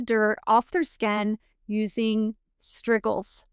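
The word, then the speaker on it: strigils: They actually scraped the oil and the dirt off their skin using struggles. Like wiggles, but it's spelled s t r i g i ls.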